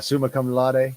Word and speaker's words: summa cum laude: Is that how you pronounce that? Suna cum laude. Yeah, summa cum laude.